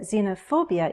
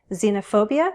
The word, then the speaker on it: xenophobia: Prejudice has only one pronunciation. Xenophobia has two. Listen. Xenophobia.